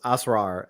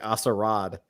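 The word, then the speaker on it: Asrar: be able to um pronounce asura instead of like assarad because there's no d in his last name but it's fine listen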